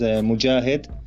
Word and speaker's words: Mojahed: Hi, for you and for your audience, you can pronounce my name as Mojahed.